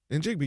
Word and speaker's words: Njigba: Njigba, yeah.